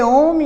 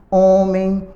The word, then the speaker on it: homem: ela está errado porque homem é escrito com a letra h é uma letra que não tem som mas é a letra que nós usamos em algumas palavras como hábito hálito homem as saiu de casa